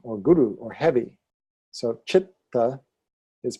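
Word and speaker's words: चित्त: So chitta is pronounced that way. Chitta. First syllable strong, second syllable light.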